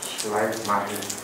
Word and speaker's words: Schleiermacher: Schleiermacher? É assim que pronuncia? Schleiermacher.